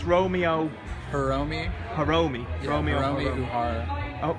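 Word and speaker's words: Hiromi Uehara: Hiromi Uhara. Oh, Hiromi Ohara. Uhara, yeah. How do you spell that?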